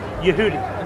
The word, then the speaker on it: Yehudi: Yehudi.